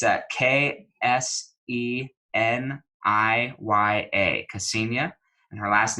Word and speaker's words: Kseniya: I'm going to spell it for you just so you can get this right, because I wouldn't say it's spelled how it sounds, but it's Kseniya, Kseniya, and her last name is Kniaz as in zebra, EVA.